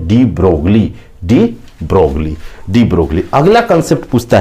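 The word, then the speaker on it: de Broglie: तो आपको उत्तर लगाना है बच्चों, डी ब्रोगली। इसका नेचर किसने बताया? तो आपको बताना है डी ब्रोगले। LI साइलेंट रहता है लेकिन हम हिंदी में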